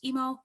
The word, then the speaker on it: EAAMO: Algorithms, Mechanisms, and Optimization, EAAMO, or pronounced EMO.